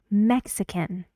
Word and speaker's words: Mexican: sound more like uh Mexican three syllables where does the stress go Mexican on the first mix so one air in